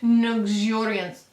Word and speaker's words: Nuxuriance: It's not the actual name, it's like Nuxuriance. Oh yeah, like luxuriant, but Nuxuriant.